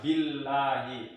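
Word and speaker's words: بِاللَّهِ: Billahi, tipis ya.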